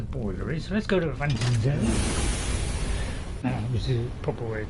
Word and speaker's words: Avanchnzel: So let's go to Avanchnzel. Which is the proper way to pronounce it.